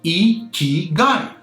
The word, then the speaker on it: ikigai: At this moment, I have to go back to the concept of Ikigai, that's pronounced Ikigai.